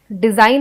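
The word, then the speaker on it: design: डिजाइन है ना, इसमें ऐसा लगता है कि DESIN स्पेलिंग है, बट जी साइलेंट होने की वजह से हमें जी का पता नहीं चलता।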